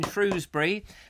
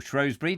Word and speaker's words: Shrewsbury: that's Alex up in fruisé brie or Shrewsbury depending on how you like to pronounce it how about that so